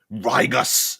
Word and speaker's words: Rigus: But let's say they survive RIGUS, RIGUS. I guess you could, a hard G would actually be kind of cool too.